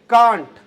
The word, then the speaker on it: cant: आगे देखो बेटा, सी से क्या है, कांट लिखा हुआ है, सी से CANT, उच्चारण लिख लेना आप, कांट।